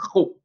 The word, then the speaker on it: ρ: Eh bien, cette lettre-là s'appelle ρ. On le voit ici. Donc, ρ. C'est comme ça qu'on la prononce.